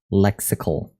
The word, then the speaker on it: lexical: Oh, lexical. Like popsicle. But with a lex.